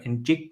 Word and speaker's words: Njigba: Njigba, I believe, is how you say it.